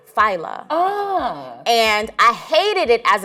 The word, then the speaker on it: Fila: So my name is spelled like Fila, but it's pronounced Fila.